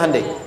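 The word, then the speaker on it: Hyundai: sana bikin Honda sini Hai hundai Kan dibacanya Handai ya kan sana Honda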